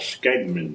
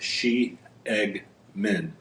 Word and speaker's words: Skjeggmenn: it knifemaker knif dmak docomo they'll call it skman knife and uh it's pronounced like she egman shman knives it's a Norwegian word that means